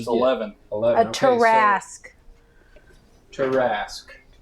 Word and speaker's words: Tarrasque: beaten the Tarask before?